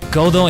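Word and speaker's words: Godot: Godo is just Godo. Apparently the T, even in English, the T at the end is not meant to be pronounced, like it's Godo.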